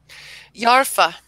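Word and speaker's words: yarpha: Yarfa.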